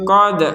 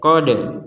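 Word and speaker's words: قد: sini kita bacanya ee ya kode kode nah artinya eat ada e di sini berartiah itu tidak benar atau gak ada itu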